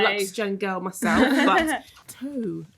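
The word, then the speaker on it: Tōu: Lux Gen girl myself, but Toe. No, you say Toe, which is at the Globe, which is the Borough Market. So it's spelled TOU with an accent, just in case people are Googling.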